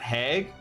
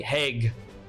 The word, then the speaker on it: Haig: I've always said it was Haig with a hard G. Haig. Haig.